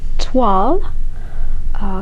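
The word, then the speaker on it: toile: doing some painted glassware and this is called it's spelled toi le hand-painted twelve kind of a French scene so glasses plates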